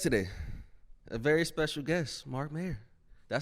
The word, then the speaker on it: Mark Mayr: A very special guest, Mark Mayr.